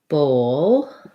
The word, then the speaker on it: bowl: Bowl is the first one where I'm really going to, because I'm going from the O to the dark L with the schwa.